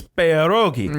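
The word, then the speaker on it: pierogi: would yell at us for mispronouncing perogi it's perogi yeah I say peris well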